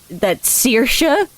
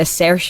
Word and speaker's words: Saoirse: And you're telling me that Saoirse isn't spelled phonetically?